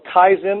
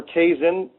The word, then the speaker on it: kaizen: that taught me the principle of kaizen or kaizen you can pronounce different ways which is a japanese